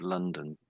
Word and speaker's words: London: So both of the O's make a different sound in different places of the word London. Each of the O's in London happen to make a different sound. But I can't remember how you said it now, but I think you made it so that both O's made the same sound. So just be aware of that.